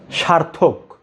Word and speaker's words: সার্থক: আমি একটি লিখে দেখাচ্ছি, এর সঠিক উচ্চারণ হচ্ছে ওই যে রটা, র্যাপ মানে রটা আপনাকে উচ্চারণে আনতেই হবে।